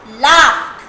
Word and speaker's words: laughed: Now G is silent. That is why GH, laugh, ed, ed, laugh.